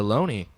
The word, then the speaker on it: Loney: And that's going to put 2 runners on here for Owen Lonez, who we just recently found out how to say his name. Moving from Looney to Loney.